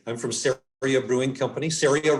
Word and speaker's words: CERIA: CERIA rhymes with area, and we're here in Colorado in the United States.